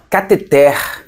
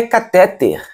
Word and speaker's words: cateter: aqui é a palavra cateter. É aquele aparelho que é usado na medicina, enfermagem. Cateter não é catéter. Não é catéter. Então é uma palavra oxítona. A sílaba mais forte é a última.